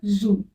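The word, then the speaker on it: jeux: example जैसे है ल जू यहां पे एस साइलेंट रता है उसको हम जू प्रोनाउंस करते हैं यहां पे एस साइलेंट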